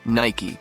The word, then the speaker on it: Nike: The name came from the Greek goddess of victory, Nike, pronounced Nike.